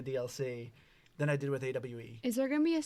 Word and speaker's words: AWE: favorite story one was ah or awe actually what it's actually pronounced because it's ultra world